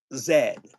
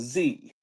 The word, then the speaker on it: Z: he was on uh zed, the team that was a Z, but zed apparently is the pronunciation of it in French.